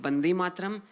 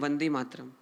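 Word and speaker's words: वन्दे मातरम्: Now my question is, what's the difference between Bande Mataram and Vande Mataram? It's just a pronunciation. Bengalis व को ब बोलते हैं, तो इसलिए उन्होंने वंदे मातरम बोला, but फिर then it turned into Vande. There's no difference.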